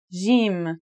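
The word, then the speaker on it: ج: In Standard Arabic and Syrian Arabic, it should sound like the J in the word jam, while in Egyptian Arabic, it sounds like the G in the word game.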